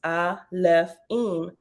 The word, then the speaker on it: Alefim: the plural form that the plural alaphene pronounced I left in means elves stemming from